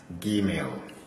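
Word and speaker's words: גימל: For this one, whether this or that, it is pronounced as Gimel. Gimel. G sound. G sound.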